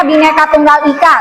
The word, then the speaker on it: Bhinneka Tunggal Ika: Kita Bhinneka Tunggal Ika, ini bacanya Bhinneka Tunggal Ika.